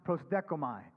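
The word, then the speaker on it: προσδέχομαι: And it's this Greek word that's pronounced prosdekomai.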